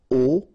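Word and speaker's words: aux: can see that here you combine a plus L and you will get this AIX okay and then phonetically you produce it or you pronounce it o okay so here o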